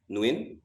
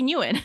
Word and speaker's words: Nguyen: We say Nguyen. It's Nguyen. Yeah. Nguyen. Really? But in Viet, it's Nguyen, isn't it? Yeah. Really? I didn't realize there's so many. I guess there's just different people pronounce it differently, I guess.